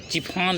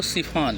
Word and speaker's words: chiffon: चिफान लिखते हैं, लेकिन पढ़ते इसको सिफान है।